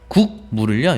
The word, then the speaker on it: 국물: 다른 색깔로 해 볼게요 기억이 지금 이응으로 바뀌었죠 최종 발음은 요렇게 되잖아요 국물 그러면은 방금 약간 좀